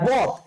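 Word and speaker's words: ض: আছে শিন শিন তারপর সদ আর বদ সেম সেম এক জিনিস দুইটাই কি মোটা করে উচ্চারণ করতে হবে দুইটাই মোটা করে উচ্চারণ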